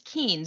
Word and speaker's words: Kuehn: the things that's hilarious my last name is not pronounced and it's pronounced keen and i don't know